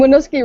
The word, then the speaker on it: Winooski: In Winooski, Vermont, city officials like to involve local businesses Wait, in stop. Say Winooski. Say that again. Winooski. No, the whole thing fast. The both In of them. Winooski, Vermont.